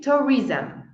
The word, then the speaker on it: tourism: As palavras terminadas em SM, a gente quer pronunciar tipo Toriza, não sei muito bem como é que nós querem pronunciar, mas termina com som de zam. Tourism, socialism, journalism.